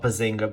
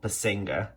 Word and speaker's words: Basinger: Next one is Bless the Child, with Kim Basinger, not Bazinga, but Basinger, Jimmy Smits, Rufus Sewell,